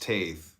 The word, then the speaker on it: Teth: Teth pronounced Taith, transcribed as I, the number 9, meaning serpent, the intelligence of the secret of all spiritual activities.